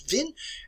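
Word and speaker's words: Wien: in our countries vienna if you go to austria today is pronounced as vin as vin i don't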